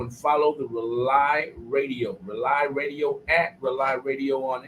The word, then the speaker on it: Rauli: to family radio show rely it's spelled r a u l i and it stands for uniting excuse me rely radio is spelled r-a-u-l-i